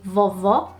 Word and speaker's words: vovó: So, grandma in Portuguese would be vovó, and grandpa would be vovô.